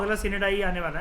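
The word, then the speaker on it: sine die: कई लोग उसको साइन डाई बोलते हैं, pronunciation doesn't matter at ऑल। वैसे प्रॉपर तरीके से अगर आप गूगल पे देखोगे और जो उसका वो नहीं होता बोलने वाला, आप उसको ऑन करोगे तो सिनेडाई होता है इसका मतलब, ठीक है।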